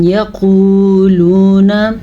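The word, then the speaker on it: يقولون: یقولون نحن جمیع منتصر، ام یقولون واو ساکن سے پہلے پیش آ گیا ہے تو یہ واو مدہ ہے، اس کی وجہ سے ہم کھینچ کے پڑھیں گے۔ یقو یہ ہم نے کھینچا، لو یہ بھی کھینچا، ٹھیک ہے، کیونکہ دونوں واو مدہ ہیں۔ قاف کو ہم موٹا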